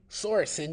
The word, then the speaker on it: Sorensen: the game does not reflect well on Nick Sorensen, if I pronounced his name correctly. Sorensen, yes.